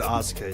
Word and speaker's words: Asuka: They pronounce it Asuka.